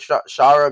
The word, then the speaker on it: Shara: I just think he looks a lot like him, and his name even rhymes with Shara Gaara.